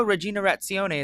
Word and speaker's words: Riginarazione: So, Regina Retzionale is how you say this episode's title.